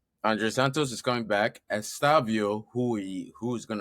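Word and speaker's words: Estêvão: Estavio, who we who is going to start against us the next game, is coming back uh after the Club World Cup. Estaval. Yeah, Estaval. That's how you say it.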